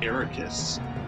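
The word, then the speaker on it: Eraqus: See one cutscene to know that's pronounced Xehanort and Aeroquiz. It's like square backwards.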